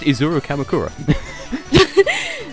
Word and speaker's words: Izuru Kamakura: Please, yeah, it's pronounced Izuru Kamakura.